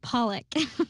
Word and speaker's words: Pollock: chucking it everywhere I mean it's great it's pronounced Pollock but Brian you don't have to keep trying